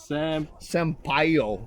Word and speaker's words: Sampaio: Sampaio.